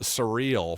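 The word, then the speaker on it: Cyril: C Y R I L but pronounced surreal from what I could tell.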